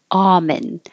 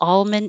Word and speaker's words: almond: the most common you you might hear people say it with the L almond and that's okay but without the L is the most common for American English speakers as in almond extract and that's all